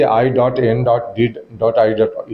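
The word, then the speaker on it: I.N.D.I.A: देखिए, वो गठबंधन का नाम इंडिया नहीं है, वो गलत कोट कर रहे हैं। उसका सही उच्चारण है कि I.N.D.I.E है और उसका हिंदी रूपांतरण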